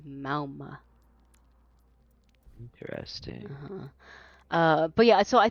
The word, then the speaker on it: Mauga: So we usually call him Mauga, but like I think the proper pronunciation, at least what Echo says, is Mauma.